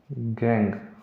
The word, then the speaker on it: gangue: कहेंगे तो इंग्लिश में हिंदी में सेम ही है, लेकिन इंग्लिश की जो इसकी स्पेलिंग है वो है GANGUE। GANG नहीं है, वो मारने धारने वाली गैंग नहीं है, ये है GANGUE, गैंग।